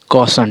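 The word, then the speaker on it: caution: तो देखिए ए यू का उच्चारण औ होता है। क्या होता है? औ। जैसे यहां देखिए सी ए यू टी आई यू एन कौसन ठीक है क्या होता है कौसन औ औ का उच्चारण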